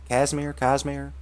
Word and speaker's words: Cosmere: Cosmere? It's a O. Cosmere. Like the Cosmo.